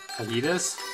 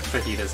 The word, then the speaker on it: fajitas: Fajitas? I think fajitas is spelled with J. Even though there's not what I would consider a J sound in the word.